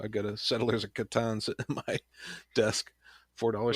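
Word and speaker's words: Catan: in my desk $44 special Le Katon right can mark that question off my list you say it correctly we'll move on so what happens if I said it wrong sometime oh no well I'll tell you though that's that's you know at least you don't say something weird like catton or something oh that's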